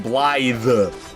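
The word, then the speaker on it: Blaidd: And I'm like, okay, Blide? Okay, it does have an I in there. Blide? I guess no, not with D's, with a TH. Blythe.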